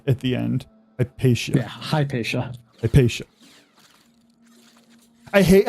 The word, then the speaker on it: Hypatia: Hypatia? Or would you make it sha at the end? Hypatia. Yeah, Hypatia. Hypatia. I hate how some languages are you pronounce the letters in the order they are,